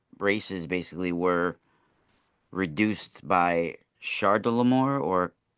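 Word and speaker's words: Chedorlaomer: yeah, that's a foreign name and pronounced as a K, sometimes spelt with a K in other transliterations, but a CH can be pronounced as a ha sound, depending Okay.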